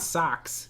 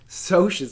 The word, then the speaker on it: Socs: So you've got some rich kids named the Socs, not Socks, if you pronounce it that way. Socs, like socialite.